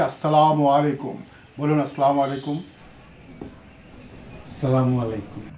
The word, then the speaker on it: আসসালামু আলাইকুম: সালাম আলাইকুম। শব্দটা তো সালাম আলাইকুম না। একজন শিক্ষক হয়ে আপনি বিকৃত উচ্চারণ করবেন? আপনার কাছে তো সবাই শিখবে। শব্দটা হচ্ছে আসসালামু আলাইকুম।